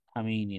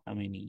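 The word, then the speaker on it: خامنه‌ای: তার দায়িত্ব আছে হ্যা খামেনি নেই যে খামেইনি না খামেনি আচ্ছা তো হয়ে গেল খামে নেই উচ্চারণটা আচ্ছা তো এই যে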